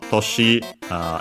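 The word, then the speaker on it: 年: Toshi, accent on the last mora, means year.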